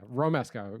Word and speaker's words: Romesco: Yeah, Romesco.